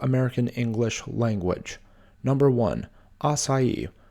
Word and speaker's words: açaí: English language number one açaí this is often mispronounced as a KY number two applicable this